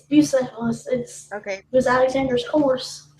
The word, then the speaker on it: Bucephalus: It's Bucephalus.